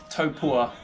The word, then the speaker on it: Taupo: So me and Loren have arrived in Taupo, they call it, but I've been saying Taupo the whole time, to be honest, but Taupo is apparently the way you pronounce it.